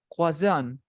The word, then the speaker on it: croissant: Y quiero que lo pronuncies así, mira. Croix, y luego digas son. Croissant.